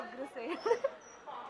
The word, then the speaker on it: Agrasen: I always pronounce it wrong. It's Agrasen.